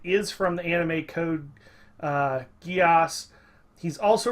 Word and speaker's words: Geass: my name it is from the anime code geass he's also right by about the pronunciation it's pronounced Geass I never really minded